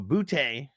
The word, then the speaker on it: Boutte: So Boutte, that's how you pronounce his last name.